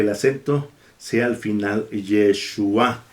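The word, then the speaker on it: ישוע: y la letra G, que es muda y que, como lo voy a ver, me ayuda para que la pronunciación sea al final, para que el acento sea al final.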